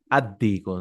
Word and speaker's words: الديك: Addiku, no? Lam sound should not.